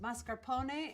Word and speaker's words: mascarpone: a toasted baguette pronounced mascarpone in Italian this is a double